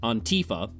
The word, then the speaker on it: Antifa: Anyway, Dinesh mentions Antifa a few times, repeatedly mispronouncing it Antifa. You're putting the emphasis on the wrong syllable, dummy.